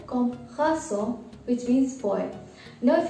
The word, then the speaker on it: garçon: This gives a soft C sound to the word garçon.